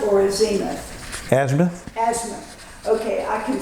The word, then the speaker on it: azimuth: Oh, azimuth or a zeith. Azimuth. Azimuth. Okay. I can spell that but I can't say it.